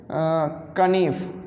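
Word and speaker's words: knife: पढ़ा किया करते थे, कनीफ, ठीक है, ये इसको कभी कि हम कनीफ पढ़ा किया करते थे, ठीक है, नाइफ को।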